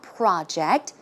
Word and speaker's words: project: okay in this case the stress goes in the second syllable as you can see it's not project when it's a verb it should be project project one more time project so you